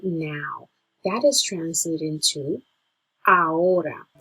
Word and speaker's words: ahora: That is translated into ahora. The H is silent, so if you want, pretend that that is not even there and just go straight through the O. Ahora.